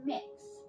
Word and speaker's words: Mix: name is mix K it's mix so kind of like cookie mix they're doing this [